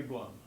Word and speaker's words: Blum: but the first one was done by Harry Blum. Do pronounce his name that way.